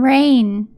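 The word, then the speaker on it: Raen: my name uh raven all right i am reign but it's spelled like raven without the without the v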